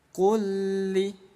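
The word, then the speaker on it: كُلِّ: Jadi bunyi lam yang pertama dileburkan ke lam yang kedua. Kulli, kulli. Jangan ditahan, kulli, nggak boleh didengungkan.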